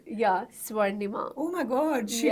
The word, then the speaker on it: Swarnima: I'm so bad at pronouncing Indian names yeah Sima oh my God she B it y this must go on the but I still couldn't pronounce the saying your full name my name is swanda bachara it's a very swanda is a difficult